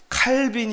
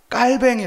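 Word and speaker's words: 칼뱅: 두번째 이야기 가 뭐냐면 칼빈이 아니라 깔 뱅이 라고 발음해야 된다는 것이었습니다 그리고 어거스틴이 아니라 아우구스티누스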